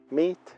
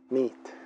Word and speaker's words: meet: Recuerda que pronunciamos hello, hello, terminado en o, hello, y que al decir el verbo meet, en inglés alargamos el sonido de la vocal, meet, meet.